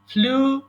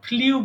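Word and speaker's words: flew: এরপরে ফ্লাই মানে উড়ানো, ফ্লাই, ফ্লু, ফ্লোন। দেখেন আমরা কতগুলো উচ্চারণ ভুল করে থাকি। এটাকেও আমরা ফ্লিউ বলি, ফ্লিউ হবে না, এটা হবে ফ্লু।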